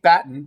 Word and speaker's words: Batten: had assembled before noon kate batten rhymes with Latin was the lead was